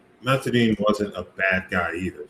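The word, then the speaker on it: Mathurin: Matherin. Matherin.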